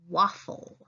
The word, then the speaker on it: waffle: You hear the L, but it can't just end with that L. It needs an E because every syllable needs at least one vowel.